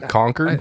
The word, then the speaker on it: Concord: No, say it right. Come on. Concord.